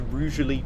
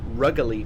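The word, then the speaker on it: Rugeley: Um, yeah, we're now at 75 all the way to Rally Trent Valley. I thought it was originally pronounced Ruggly Trent Valley. No, it isn't. It's pronounced with a soft G, apparently.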